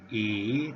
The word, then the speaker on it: 乙: means the Korean pronunciation Chinese pronunciation is e e tone number three just like this the